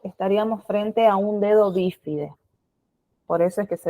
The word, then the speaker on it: bífide: Que se denomina bífide. ¿Escucharon alguna vez la palabra bífide? ¿Con B corta? Con B larga o B alta y acento en la primera I. La palabra bífide, ¿la escucharon alguna vez?